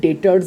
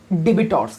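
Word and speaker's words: debtors: উচ্চারণ করে কি বলে ডেবিটরস কি বলে ভাই ডেবিটরস আরে ভাই না এখানে বিটাকে সাইলেন্ট রাখা হয়েছে বিটাকে আমরা উচ্চারণ করবো না মনের কোনায় রাখবো গাইস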